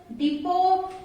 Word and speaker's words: depot: Words are given where T is silent. In words के pronunciation में T silent रहता है. So the words are like castle, depot, listen, often, fasten, bristle, kitchen, Christmas, rustle.